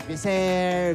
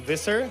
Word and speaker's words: Visser: pronounced it in different ways this year i pronounced it as biser because you know that's how the filipinos will do it usually but is it or visser well it's actually pronounced visser but i don't mind it the tagalog with